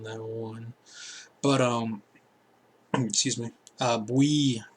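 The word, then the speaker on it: Bouye: Bowie, how do you say his name? Boue.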